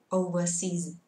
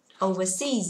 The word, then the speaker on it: overseas: nói là is travel overseas. Đấy, mà phải là is traveling overseas. Trọng âm của từ này rơi vào thứ ba nhé cả lớp ơi. Overseas nhưng mà là overseas.